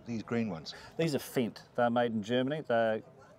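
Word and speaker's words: Fendt: and some of them are how do you pronounce for example these green ones these are fent they're made in Germany they're well they're called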